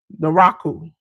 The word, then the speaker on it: Naraku: J News, I pronounce this wrong every time since he done been here. Because I want to call him evil. The Raku. Yep, that's how you say it.